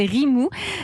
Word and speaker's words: Rimoo: pitcher ce que c'est ça s'appelle Rimou ça s'écrit r i m 2o on vous écoute Alexandre